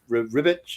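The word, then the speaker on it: Ribić: Esad Ribic Ribic is how we pronounce his name.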